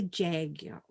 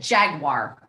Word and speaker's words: Jaguar: And when they advertise the car, they call it a Jaguar. And it's like, Jaguar, not Jaguar. Well, and that's how a lot of people pronounce it, Mom. That's how it's supposed to be pronounced, as jaguar.